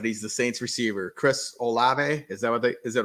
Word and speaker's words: Olave: Number 2, and I don't know how to say his last name, but he's the Saints receiver, Chris Olave. Is it Olave?